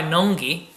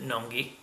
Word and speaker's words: Nøgne Ø: it was brewed by nungi uh in Norway with collaboration with terapin and I believe I pronounced it correctly because I watched a video and Spike pronounced it n noi so hopefully that's right